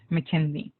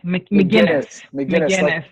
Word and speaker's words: McGuinness: I am with my guest, Mr. Robert McKinley. Am I saying it right? McGuinness. Like the beer.